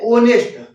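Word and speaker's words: honest: हमने मब इसमें क्या है अब ये हमारी साइलेंट है कि हावर नहीं क्या लिखा है आवर नेस्ट नहीं ऑनेस्ट हॉनरेबल नहीं नरेल तो इनके सबके आगे किसका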